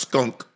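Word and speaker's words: Strunk: I think I think the last is pronounced skunk.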